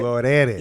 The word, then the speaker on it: Glorelys: Glorelys. Yeah. Now you like pronounce that shit, nigga. Roll that R.